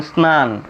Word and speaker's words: স্নান: দন্তন্য ফলা থাকে তাহলে দন্তন্য ফলার উচ্চারণ হয় না। ফলাযুক্ত বর্ণটি নাক দ্বারা নাসিক্যভাবে উচ্চারিত হয়। যেমন স্নান স্নেহ।